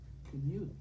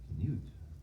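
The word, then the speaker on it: Knute: However, Bob, his mother always insisted that his name be pronounced Knut. Knut.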